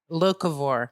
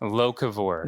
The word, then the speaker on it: Locavore: So how is it properly pronounced so we can make it known? Locavore. Locavore.